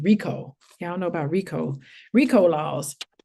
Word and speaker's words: Richo: It's spelled Richo, but it's Rico is how you pronounce it. Rico.